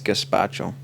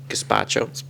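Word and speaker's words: gazpacho: was chilled and it was good yeah it's gaspacho gaspacho that's how it's pronounced anyway you were saying cucumber chilled soup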